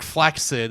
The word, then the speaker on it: flaccid: Like a double C sound would be like flaccid, by the way. That's what it normally be. Or like flaxid is what how you say it otherwise. That's why it threw me off cuz in proper English that's what that's how you'd say that.